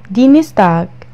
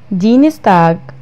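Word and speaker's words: Dienstag: دينستاغ، دينستاغ الثلاثاء.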